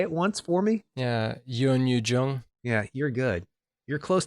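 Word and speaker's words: Youn Yuh-jung: And I have vowed not to say the grandmother's name until I know how to pronounce it correctly. Can you say it once for me? Yeah. Yoon Yoo-jung.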